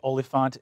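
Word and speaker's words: oliphaunt: i'm actually olefant is spelled o l i p h a u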